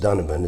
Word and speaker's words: Donovan: Uh his name is Donovan. Actually pronounced Dunovan.